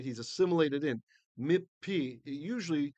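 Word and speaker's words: מִפִּי: Mipi, it typically in ancient times would be pronounced as two pes there. Although going with the Sephardic Israeli pronunciation, we'll just kind of go through that, brush through that.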